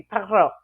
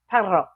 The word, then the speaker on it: perro: But in Spanish, it'd be perro, perro, which is a word.